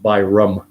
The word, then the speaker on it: Byram: I actually think his name is pronounced Byram, but it's spelled Byram.